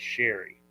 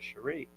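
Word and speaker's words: Sharie: Casey case so so my wife's name is Sherry oh but it's spelled s h a r i e so everybody reads it says Sheree Casey would call her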